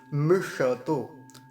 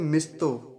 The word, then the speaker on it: मिषतो: क्या कहते हैं, मिस्तो। मिस्तो चलता है या मिष्तो चलता है, लेकिन ऐसा नहीं करेंगे। मूर्धन्य शकार है, श, और पूरा बोलेंगे, आधा नहीं करेंगे, तो कैसे उच्चारण होगा, मिषतो, मिष श ऐसा करके, मिषतो।